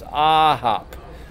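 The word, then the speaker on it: 아홉: It's a hop, like aha, I get it, a hop. Just add the P at the end of aha, and it's a hop. The accent is on the first syllable in this case.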